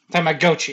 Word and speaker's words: Tamagotchi: The original Which is- pronunciation is Tamagotchi. It's just we were pronouncing it wrong. Yeah. Or I was pronouncing it wrong. Okay. Tamagotchi.